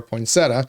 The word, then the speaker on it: poinsettia: properly care for a poinsettia which I've learned this spelled poinsettia so why is the I there if you're not going to say it have you ever had